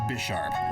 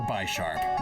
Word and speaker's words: Bisharp: It is a continuation of Piard and Bisharp or Bsharp. Which pronunciation do you prefer?